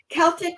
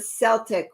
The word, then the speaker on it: Celtic: Celtic not Celtic not is it Celtic with the hard sea or Celtic with the soft scene if you minted okay I think it's Celtic with the hard C no Diane she won't